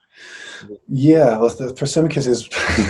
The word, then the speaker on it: Thrasymachus: That's where Thrasymachos, I think you pronounce him differently in English. How would you say his name? Thrasymachus? Yeah, Thrasymachus.